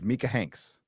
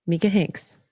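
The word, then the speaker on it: Micah Hanks: the Mania then the week after is it pronounced mik it's mikah Hanks mikah Hanks M Hanks M Hanks is here will be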